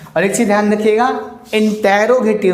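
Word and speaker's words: interrogative: और एक चीज़ ध्यान रखिएगा, इंटेरोगेटिव नहीं होता भाई, इंट्रोगेटिव। वो सुना होगा ना वीडियो की स्टार्टिंग में इंट्रो लगाते हैं आप, ये वही तो है इंट्रोगेटिव प्रोनाउंस।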